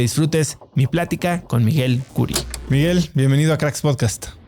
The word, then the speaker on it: Khoury: Hoy tengo como invitado a Miguel Curi. Lo puedes encontrar en Twitter como @Curi. Miguel Curi se escribe @KHOURY.